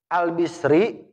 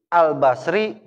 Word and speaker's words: al-Basri: Al-Bisri, Al-Basri, Al-Busri. Bisa dibaca 3. Yang cakep dibacanya Al-Bisri. Nyesuaiin sama harokat roknya. Orang Arab kagak mau ribet. Basri, Busri, keribetan bagi orang Arab. Makanya dia udah Al-Bisri gitu. Meskipun bisa dibaca Basri, bisa dibaca Busri.